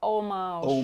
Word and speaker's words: homage: Today we have on our Saskatchewan Rough Rider jerseys paying homage. I don't know if it's it's got an H. Is it homage or homage? No, it's a French word. It's homage.